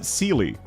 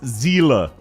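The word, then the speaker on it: Seele: They go, "Oh, they Well, they pronounce it Celely. No, no, no. It's a German word. It's zila.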